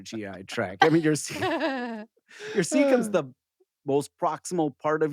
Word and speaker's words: cecum: Oh, I'm not sure how to pronounce this one, but I'm going to give it a shot. Cecum.